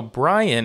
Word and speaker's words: Brien: I just expect to get more videos so Brian is how you pronounce his name b-r-i-e-n song is called Fine